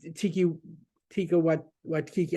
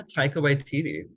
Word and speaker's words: Taika Waititi: But it was Tika Kiki. I can't even say his name. You know who I'm thinking of, right? Yeah, Taika Waititi.